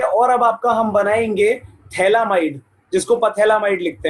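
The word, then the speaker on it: phthalimide: लिखते बोलते इसको थैलामाइड है, मतलब लिखते पथैलामाइड है, बोलते थैलामाइड है, ठीक है। तो अब जरा ध्यान से सुनना यहाँ पर क्या होगा। मैंने क्या करा, हाँ प्रोनाउंस इसको थैला ही करेंगे।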